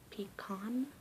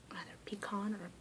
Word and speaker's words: pecan: syllable it'll either be pecan or pecan and then pecan pecan and then for those who put the stress on the first syllable died pecan pecan pecan it's a little bit